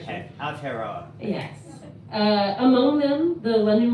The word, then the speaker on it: Aotearoa: I'm still You're working on on that It's pronunciation. okay. Aotearoa.